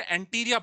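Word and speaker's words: anterior: अब एंटी हो गया बिफोर, और आई आर हो गया भाग, इंटीरियर एक्सटीरियर, मीन्स इसे एंटीरिया पढ़ते हैं। प्रोनाउंसिएशन थोड़ा इसका चेंज है, एंटीरिया।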